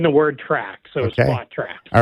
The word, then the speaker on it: Spotrac: It's spot track. Yes. So like you're smushing together the word spot and the word track. So Okay. spot track.